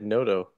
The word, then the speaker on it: Noto: I've always said Noto. Noto? Yeah, Curtis knows what's up. Okay. But I don't know that for sure. I believe it's Noto.